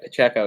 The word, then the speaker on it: Pacheco: it how do you say his last name Pacheco yep Pacheco yeah for Jacko he's been looking really good